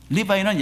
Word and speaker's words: 리바이: 리바이는 야곱의 셋째 아들의 아들 레위의 영어식 발음이죠.